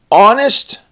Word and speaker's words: honest: Now we got the silent H, as it's in the word honest.